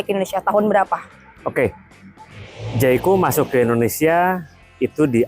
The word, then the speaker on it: Jaecoo: Kan masih banyak yang bingung pronunciation itu apa sih? Jaiko. Jaiko atau apa?